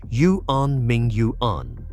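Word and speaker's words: Yuanmingyuan: The name is pronounced Yuan Ming Yuan.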